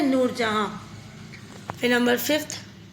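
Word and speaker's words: Nur Jahan: ए एच ए एन जहां इसको जहां लिखते हैं लेकिन प्रोनाउंस करते हैं नूर जहां फिर नंबर फिफ्थ अ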